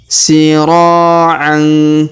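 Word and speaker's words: سِرَاعًا: Kemudian sira'an. Perhatikan huruf ro kita panjangkan 2 harokat karena terdapat alif di depannya. Sira'an.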